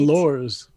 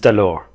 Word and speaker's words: alors: Allures. You don't say the S, Tom. Huh? You don't say the S, it's alors.